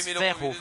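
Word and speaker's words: Fährhof: Ça se prononce Fairhof en allemand.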